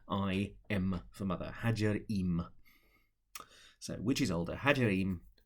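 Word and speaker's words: Ħaġar Qim: on, A-R, new word, Q, which I'm reliably informed is silent, I-M for mother, Hajar-Im.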